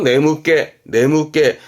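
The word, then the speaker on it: 眠気: 발음은 네무깨입니다. 특히 조심할 거 네무깨.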